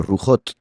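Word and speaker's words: רוחות: Ahora bien, cuando se habla de espíritus en plural en la escritura no se dice ruhim, se dice rujot.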